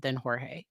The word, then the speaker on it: Jorge: arrested more for DV than Jorge, than George, I'm sorry, because that's how the family says it. That's how they say it. When I see it, I see Jorge, and that's what I wanna say. But everywhere I've heard, most people say George.